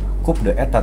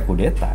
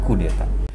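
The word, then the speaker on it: coup d'état: ditulisnya Cup the Etat. Ya, guru sejarah saya menyebutnya Cup the Etat. Sebenarnya dibacanya ya kudeta itu kan bahasa Perancis. Jadi mengucapkannya kudeta.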